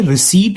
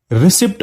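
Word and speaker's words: receipt: देखिए, रिसीट word को जो है लोग अक्सर गलत प्रोनाउंस करते हैं। काफी लोग इसे रिसिप्ट बोलते हैं। ठीक है, इसका सही प्रोनाउंसिएशन है रिसीट।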